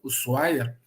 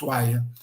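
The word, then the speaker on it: Ushuaia: Sul fui até o oaia e depois retornei Pode parecer que eu pronunciei errado não é o uaia eles falam uaia Ok e a gente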